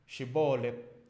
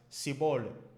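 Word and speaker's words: Shibboleth: Than the standard Hebrew dialect, and they pronounce it as sibolet. Sibolet.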